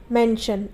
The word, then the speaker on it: mention: उसी तरीके से मेंशन, MENTION। तो यहाँ पर टी के बाद ION है, तो यहाँ जो आई है उसका उच्चारण अ होगा।